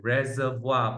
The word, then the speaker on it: reservoir: It's pronounced as reservoir. Wow, it's a French word. All right, reservoir.